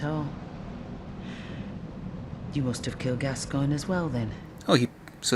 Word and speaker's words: Gascoigne: You must have killed Gascoigne as well, then. Oh, so it's pronounced Gascoigne.